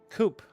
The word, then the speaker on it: Coupe: Also, my name is Coupe. Got it. Rhymes with poop.